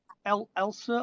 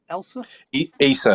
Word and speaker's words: Issa: I think, is it Elsa or Elsa? Issa, Abu Issa. Issa, yeah, he got a nice round of applause when he came past.